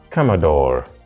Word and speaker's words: Commodore: second syllable second syllable so Commodore is different from the rest whereas whereas all of them are stressed on the second syllable commodor is stressed on the first finally on this list